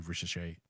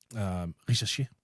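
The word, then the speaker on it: Risacher: They obviously have some rookie contracts in form of Zachary Risachet and Risachet, by the way.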